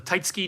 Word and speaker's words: Taitsuki: I talked to the owner of Taitsuki and he says Taitsuki is the correct way to say it. It's basically if you were speaking in Japanese, you don't pronounce the u in the tsu in front of a key or a ka.